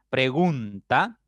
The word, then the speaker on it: pregunta: Por ejemplo, pregunta es una palabra de 3 sílabas. La sílaba tónica es gun, ahí está la mayor fuerza. Y las átonas son pre y ta.